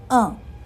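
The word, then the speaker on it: un: वन अ ठीक है?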